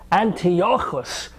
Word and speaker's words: Antiochus: I'm going to pronounce it the Hebrew way. Antiochus, Antiochus, anti-filthy, anti-Semite bastard Yochus.